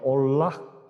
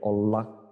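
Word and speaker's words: עולה: 그래서 좀 흥미로운 것이 히브리어로 번제가 올락 이렇게 발음이 돼요. 올락.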